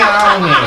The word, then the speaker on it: Aune: you keeping a scorecard, her last name is spelled A-U-N-I, but as she told me backstage, in the crowded jam backstage areas, that it is pronounced as if ow, I hurt myself, knee, I hurt myself on my knee.